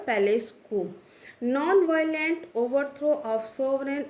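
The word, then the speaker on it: palace coup: इसको भी देखिए, कई बार बच्चे जिसका जो प्रोनाउंसिएशन है वो कम्प्लीटली रॉन्ग करते हैं और उसको पी जो है वो उसको प्रोनाउंस कर देते हैं, बल्कि इसमें पी का कोई प्रोनाउंसिएशन नहीं है। पैलेस कू मीन्स अगर हम इसको प्रोनाउंस करेंगे तो के सी डबल ओ पी को हम प्रोनाउंस करेंगे के डबल ओ, इस वजह से हम इसको प्रोनाउंस करेंगे पैलेस कू।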